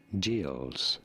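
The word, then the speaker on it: Gilles: In English, this is usually said as gills.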